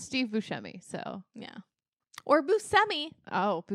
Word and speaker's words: Buscemi: She was always like, yeah, it's Buscemi, but no one's going to pronounce it like that.